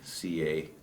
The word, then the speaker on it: Canik: Phonetically, it would be Canik, C-A-N-I-K, but its pronunciation is Canik, has been pointed out by several Turkish people.